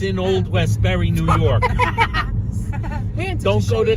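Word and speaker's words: Westbury: you shouldn't go to it rhymes with mold vest Berry and it's in old Westberry New York don't go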